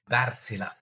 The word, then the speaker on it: Wärtsilä: try my very best it's called Villa like like Godzilla but V that's I'm going to remember it such a dad joke see what on Earth does Villa do because the name